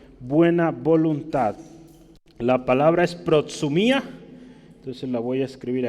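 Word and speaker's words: προθυμία: para hablar de buena voluntad la palabra es pro sumía entonces la voy a escribir aquí segundo el queso la música y yo le pongo como se pronuncia en español pro sumía que significa proto mia predisposición solicitud voluntad entonces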